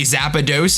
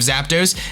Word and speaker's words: Zapdos: so you know I I know I say zapados instead of Zapdos and I say yuie